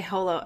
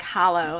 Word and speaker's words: Holo: but you would say Holo I think you would say my holo no you're because it otherwise sounds like Hollow like h-o-l-o you can always correct